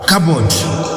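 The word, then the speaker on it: כבוד: By the way dito isu utheu mutisu in Hebrew inatamkwa kabod.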